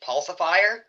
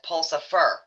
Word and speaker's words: Pulsifier: I mean, like specifically uh one of the uh bands that's playing it, Pulsifier, I have heard numerous times they they they mispronounce it as Pulsifer.